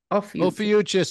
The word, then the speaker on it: Ophiuchus: Ophiuchus is the way I pronounce it. Some people call him Ophiuchus. I think that sounds like mucus.